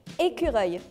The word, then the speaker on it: écureuil: Écureuil. How do you pronounce it?